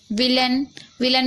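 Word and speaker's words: villain: विलन में भी आप देख रहे हैं कि यहाँ पर वी को वा पढ़ा जा रहा है, आई को ई की मात्रा, डबल एल को सिर्फ ला पढ़ेंगे। ठीक है, और AI को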